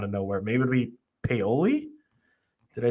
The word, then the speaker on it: Paoli: Maybe it'll be Paoli.